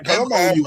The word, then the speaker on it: Joumou: How you spell that harmousse? That's the harmousse straight. It's Joumou. So you said it's the move. Joumou.